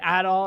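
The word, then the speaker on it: Adol: I heard him say a doll and I heard him saying jenos and I went oh I've been saying it wrong but I do like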